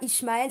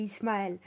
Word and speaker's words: Ismaël: je sui ismaélites 1 c'est pas israël c'est ismaël tu vas pas s'embrouiller pour ça tu arrives à dire israël tu prononces hisse donc ceis tu vois c'est ismaël mais bon c'est pas